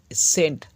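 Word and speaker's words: scene: হচ্ছে সাইন্স অর্থাৎ বিজ্ঞান তারপর আছে সিন এস সি ই এন ই দেখো এস এর পরে যে সি এর উচ্চারণ নেই তাই এস এর পরে ই এখান থেকে উচ্চারণটা হচ্ছে সিন অর্থাৎ দৃশ্য একই রকম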